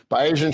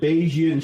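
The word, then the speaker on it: Bayesian: Beijian shrinkage. Basian shrinkage. Um, that is that has nothing to do with being say it right. Beijian shrinkage.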